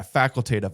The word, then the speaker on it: facultative: Yeah, facultative. I always screw the pronunciation of that up.